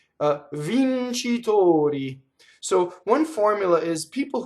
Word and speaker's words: vincitori: Like professor, doctor, victors in this case. Vincitori, closed O.